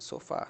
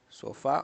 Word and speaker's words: sofá: Ficar no sofá. Sofá. Vamos separar. So fa. Então, como é terminado, como a sílaba tônica é a última, é a última